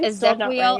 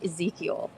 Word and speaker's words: Ezequiel: Yeah, because Ezequiel, right. I wouldn't have pronounced it Ezequiel. I definitely would not have done that. And like off the bat, I would have said Ezekiel, and it was Ezequiel.